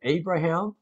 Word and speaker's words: Abraham: 자, 그 사건 that incident became an unforgettable, 잊을 수 없는 unforgettable lesson to Abraham.